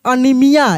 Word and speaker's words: anaemia: है ANAEMIA, ये है अनीमिया, एक बीमारी है अनीमिया। तो यहाँ पे जो ए ई है, ए ई, उसको हम लोग ई पढ़ दे रहे हैं, अनीमिया।